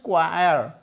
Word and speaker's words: choir: इसे चॉयर नहीं बोलते हैं, दैट इज क्वायर। क्वायर, र को स्लाइटली प्रोनाउंस किया जा रहा है। र मैंने यहाँ ब्रैकेट में लिखा हुआ है और हल्का प्रोनाउंस करने के लिए ये मैंने ब्रैकेट में लिखा हुआ है, दैट इज क्वायर। क्वायर, क्वायर। बेसिकली र को बहुत हल्का सा प्रोनाउंस करना है, दैट इज क्वायर। सुनने में अजीब सा लगता है, बट इट इज ट्रू।